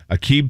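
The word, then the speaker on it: Aqib: former nfl cornerback and i'm gonna i always pronounce his first name incorrectly akeeb talib did i say that correctly yeah they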